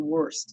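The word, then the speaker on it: Wurst: Their name is W-U-R-S-T, Worst is how you say it, is a part of Sullivan's ongoing efforts, and the Plantation Police then became involved.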